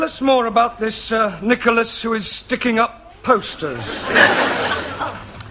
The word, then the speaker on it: Nicholas: upon a times there was a man called nickel ass that's not quite right no no once upon a time there was a woman called Nicholas it's pronounced Nicholas all right once upon a time there was